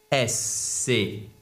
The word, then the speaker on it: schwa: S-C-H-W-A, c'est le schwa. Donc, la plupart des voyelles atténuées se prononcent comme des voyelles non accentuées, pardon, donc